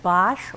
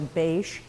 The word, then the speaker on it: Bache: The B stands for Bache or Bache, depending on how you want to pronounce it, B-A-C-H-E.